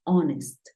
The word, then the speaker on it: honest: House home horse Pero hay algunos casos como cuatro palabras en las que la H es muda por ejemplo Hour que es hora tenemos eh honor y tenemos honest esas tres son las